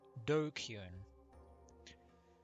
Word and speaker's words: DQN: uh three-letter slang before japanese netslam pronounced dokun used to refer to